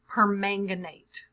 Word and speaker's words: permanganate: The name for this is potassium permanganate. So you kind of say every syllable there. Don't skip them. So permanganate.